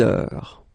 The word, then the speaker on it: heure: Il est 6 heures. All right, so you write it like that. Remember, H is not pronounced, okay?